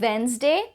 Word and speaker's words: Wednesday: cliche next we have wednesday wednesday not wednesday the day is silent wednesday you can either say wednesday without the d or you can say